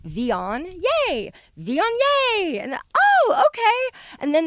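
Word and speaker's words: Viognier: know it looks like vagner but it's pronounced vion think of the word neon but with a v like von yay von yay and oh okay and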